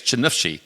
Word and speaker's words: Chernihiv: So Sasha and Iryna are currently in Ukraine in a little town, and help me pronounce it correctly, it's Chernihiv, correct?